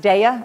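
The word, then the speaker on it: Daiya: that I've had miu's cheese there's no comparison Dia cheese and someone told me it's pronounced DEA I don't know but someone who knows the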